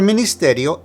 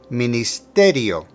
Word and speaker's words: ministerio: articles GL clear for ministerio emphasize the te ministerio ministerio let's repeat what we